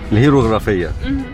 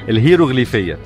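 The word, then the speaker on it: الهيروغليفية: الهيروغرافيا. برافو عليك، انت عارفاها بس مش عارفه تنطق الاسم. مش متاكده. الهيروغليفيه.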